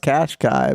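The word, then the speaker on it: Qashqai: Nissan Cash Cow oh I think it's pronounced cash Cai but it is but I have been calling it at the cash cow yeah and uh I'm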